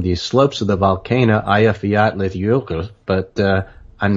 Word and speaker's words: Eyjafjallajökull: He is, but I only did the pronunciation. I made it very short. Okay. Eyjafjallajökull.